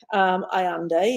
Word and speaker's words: Allende: Isabella Allende, Allende is the correct pronunciation.